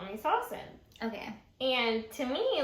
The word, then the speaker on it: Sawsan: Sawsan. Fun fact, that's actually not how you say my name. Really? So my name is Middle Eastern, and the correct pronunciation is Sawsan.